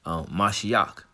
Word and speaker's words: Mashiach: And that's how you say it in the Hebrew, Mashiach.